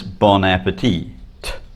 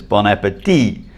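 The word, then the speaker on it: bon appétit: So in Groundhog Day, for example, Andy McDowell, in chastising Bill Murray at one point, says bon appetit, with a t at the end. That's wrong. It's bon appetit.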